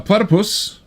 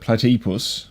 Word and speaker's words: platypus: Uh a platypus, not the way Jonathan Ross pronounces it, platypus, but it's a platypus. Even though the Y is there, so it kind of is platypus.